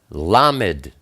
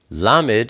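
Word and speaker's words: ל: Then we have Lamed. Lamed is the number 30. It's pronounced L like love.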